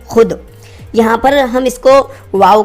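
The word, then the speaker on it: خود: इसको हम पढ़ेंगे खुद। यहाँ पर ये वाव साइलेंट है।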